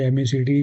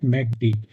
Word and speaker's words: MACD: कैन बी, अब मैं तो इसे एमएसीडी कहता हूँ, एमएसीडी moving average conversion diversion. But actually इसका प्रोनाउंसिएशन क्या है, मैकडी। आप मैकडी भी कह सकते हैं या एमएसीडी भी बोल सकते हैं, कुछ भी बोल